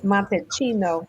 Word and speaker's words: Montalcino: The hotel is a upscale hotel, and it's an 800-year-old estate in a city called Montalcino. CI is pronounced CH, so it's Montalcino, Tuscany.